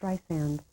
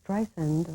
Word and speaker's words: Streisand: in my name please it's dry sand I'm sorry so many people do that and I always wonder am I really famous you know how could they say Streisand or if or Zan